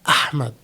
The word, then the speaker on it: Ahmed: It's like when you open a a can of coke pop like just ah you know this ah sound ahmed.